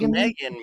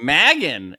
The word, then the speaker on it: Magan: Not Megan. Magan. Magan. She pronounces it Magan.